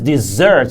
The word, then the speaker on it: dessert: and the pronunciation is desert so stress is on the second syllable but we have another